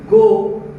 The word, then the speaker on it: goe: थोड़ा सा देखने की जरूरत है, इसमें लिखा जाता कुछ है और बोला कुछ और जाता है, मगर उसके स्पेलिंग में अंतर होने के बावजूद भी उसके मीनिंग में कोई अंतर नहीं होता। मतलब यहाँ लिखा गया है sweetest love I don't गो, लेकिन स्पेलिंग इसका लिखाया है गोई। मन इसका अंतर अर्थ में कुछ नहीं है, ये गो ही है।